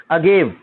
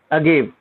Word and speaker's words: agave: इसकी स्पेलिंग होती है AGAVE, अगेव। इसकी स्पेलिंग कैसी होती है? अगेव।